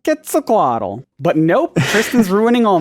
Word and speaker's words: Quetzalcoatl: school growing up uh it would be pronounced quetzalcoatl yup quetzalcoatl but nope kristin's ruining